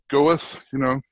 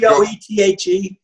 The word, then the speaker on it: Goethe: quote from Johann Goethe, is that his name? Goethe, Goethe. I pronounce it Goethe. Yeah, G-O-E-T-H-E, right.